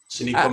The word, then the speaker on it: Sonequa: Her name is Sonoka. I don't know how you say her name. Sonequa Martin Green.